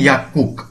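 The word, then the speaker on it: 약국: যেমন এখানে ইয়াকুক, গিয়কের পর আবার গিয়ক এসেছে, উচ্চারণটি হবে ইয়াকুক।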